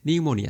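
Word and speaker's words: pneumonia: তোমাকে কেউ যদি বানান করতে বলে বা এক্সপ্লেইন করতে বলে তুমি কিন্তু বানানটা এরকমই লিখবে যে নিউমোনিয়া জাস্ট সামনে একটা পি বসায় দিবা তারপরে সাইকোলজি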